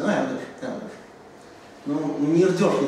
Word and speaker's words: Эрдёш: То есть ударение на «э» в большей степени, но здесь все-таки «ё» в каком-то смысле. Ну, «Эрдёш», «Эрдёш».